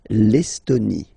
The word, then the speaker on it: Estonie: L'Estonie, final E, not pronounced. L'Estonie.